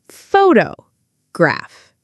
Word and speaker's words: photograph: Take the word photograph. The stress is on the first part photograph. But if we say photography, the stress changes. Photography.